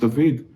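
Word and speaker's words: דוד: doesn't mean anything in hebrew david which is pronounced david means also uncle it means also lover obviously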